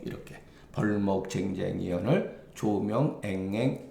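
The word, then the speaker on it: 丁丁: 거기 시에 이르기를 벌목 요거는 발음이 쟁쟁 으로 읽어야 돼요 정정으로 읽으면 안 되고 예 벌목 쟁쟁 이언을 예 이거는 의성어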